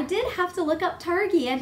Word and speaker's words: Targhee: google it and found out that you do pronounce it targhee nacht RG or tarji so Targhee wool is